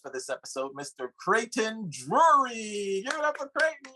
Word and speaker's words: Drury: I just introduced you, Creighton Drury.